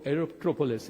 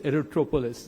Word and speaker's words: Aerotropolis: the Bogaparum aerero aerop Aerotropolis erotropolis that's how it's getting rightly pronounced and what can we